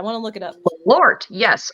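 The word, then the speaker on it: Malört: How do you spell that? I want to look it up. Malort, yes.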